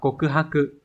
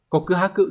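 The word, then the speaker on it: 告白: cáo và chữ bạch từ này được đọc là gì Các bạn được đọc là cộ cư ha cự đúng không cộ cư ha cự khi mà dịch sang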